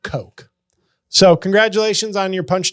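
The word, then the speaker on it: Koch: person on YouTube commented it's actually pronounced Coke JL yep that's the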